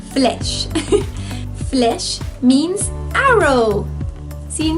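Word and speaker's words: flèche: how to say flesh can't really separate it with syllables like i usually do it's really just flesh flesh means arrow see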